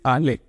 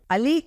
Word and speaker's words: आले: Actually it's आले। अली नहीं, आले है।